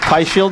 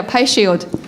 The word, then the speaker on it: PII Shield: from pii Shield or P Shield as I pronounce it but I guess that's incorrect yeah pie Shield okay pie Shield well